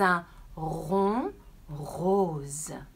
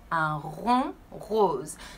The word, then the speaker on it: un rond rose: Un rond rose. All you have to do is take a deep breath and then push the air out. Keep your tongue down.